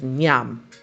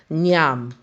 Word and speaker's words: nyam: Now, the third word we're going to speak of, a Jamaican word, is Nyam. Nyam.